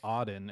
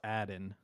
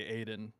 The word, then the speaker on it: Aden: It was before it was Auden, and now it's Aden.